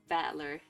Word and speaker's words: Battler: It's made up of the characters for fight and person, so it's pronounced battler. Is this a translation? Is his name really Battler?